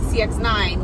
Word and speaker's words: CX-9: Is it CX or XC? It's CX. Mazda also makes the CX-9, which is bigger and has the third row.